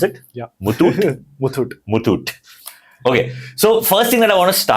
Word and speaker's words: Muthoot: Is that the right way to pronounce it? Yeah. Muthoot? Muthoot.